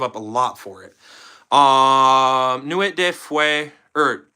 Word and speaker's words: Nuit de Feu: Nuit de Feu, or Nuit de Feu, I believe is how you say it.